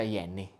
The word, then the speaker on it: Jenny: Si scrive Jenny, però si pronuncia Yenny.